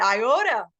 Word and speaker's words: Iota: So, and look, I even got into the diphthong when I said it, Iota. I know how to say it the right way.